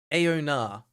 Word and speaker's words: Aona: I just know about Aona. Okay, Mr. Inopportune, thank you for giving me the correct pronunciation on that.